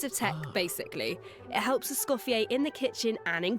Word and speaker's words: Escoffier: Cass, and I voice Escoffier. Escoffier, I think. Ooh, wait, did Google get it right? I'm gonna have to watch that part back to see. Escoffier, so that's how you say her name.